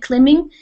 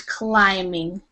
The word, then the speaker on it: climbing: uh the word climbing you gave it a short I sound clim you said climing and that is climbing okay so and and